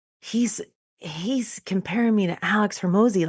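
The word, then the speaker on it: Alex Hormozi: Alex Hermosi.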